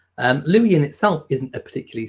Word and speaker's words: Louis: We pronounce both spellings the same way. Well, I've just so you know, it's Louis.